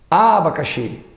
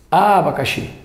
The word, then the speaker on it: abacaxi: não né coração agora aqui quatro vogais abacaxxi abacaxi não abacaxi abacaxi abacaxi abacaxi ih não é não é abacaxxi lá no finalzinho abacaxxi lá no i a vogal tônica aqui